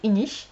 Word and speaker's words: Inis: Et Inish aussi, on dit Inish alors que ça se prononce, ça s'écrit Inis, I-N-I-S. Mais c'est Inish.